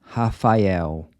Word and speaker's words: Rafael: Rafael. So the “r” is pronounced like the “h” in “hot” when it comes at the beginning of a word.